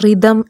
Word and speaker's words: rhythm: ഇത് വായിക്കേണ്ടത് റിതം എന്നാണ്. ഈ വാക്കിലും എച്ച് സൈലൻ്റ് ആണ്.